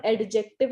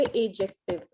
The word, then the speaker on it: adjective: एडजेक्टिव नहीं होते, एजेक्टिव. बी को बिल्कुल साइलेंट कर दीजिए. या तो एडजेक्टिव बोलिए या एजेक्टिव बोलिए, दैट्स योर कॉल.